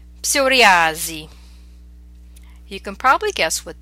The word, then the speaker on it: psoriasi: Okay, so these are words we're familiar with, but in English we do not pronounce the P, whereas in Italian you must pronounce it. Let's practice them. Psicologia, psicologo, psichiatria, psicosi, psoriasi.